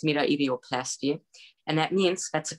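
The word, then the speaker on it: metoidioplasty: I believe in English it's pronounced meta-idioplasty, and that means that's a clitoral release.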